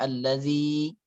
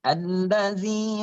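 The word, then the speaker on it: الذي: Allazi, apa hukumnya allazi? Tabi'i. Mad tabi'i. Allazi khalaqa fasawwa. Allazi, ingat za-nya zi. Jangan allazi. Jangan kebablas ke huruf za. Ya, tapi za di ujung lidah.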